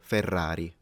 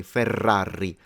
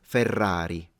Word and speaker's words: Ferrari: would be the word Ferrari because in Italian at least there is a distinction in pronunciation between the single R and the Double R whereby the Double R